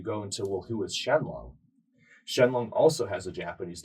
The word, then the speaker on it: Shenlong: to point this out when you study Shenron it's supposed to be Shenlong you just have that colloquial change in the pronunciation of the L to the R going from Japanese to English and so Dragon Ball